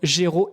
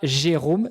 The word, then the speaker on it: Géraud: m'en dises plus sur ton prénom, Géraud, et non pas Jérôme. Ça s'écrit Géraud, G-E-R-A-U-D.